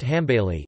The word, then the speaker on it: Hanbali: the Hanbali school arabic al aliy pronounced ham bailey is one of the